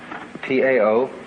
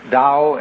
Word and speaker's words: Tao: is called a dowel ta o pronounced Dao in the Mandarin dialects Tao in the chung